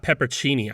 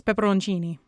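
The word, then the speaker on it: pepperoncini: But it's not pepperchini either. No, it's pepperonchini. You're missing like a whole syllable in there.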